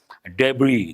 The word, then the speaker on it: debris: We all know we have got many a time debris the remains of a building the rubble the debris but the letter S is silent in debris after heavy rain and flash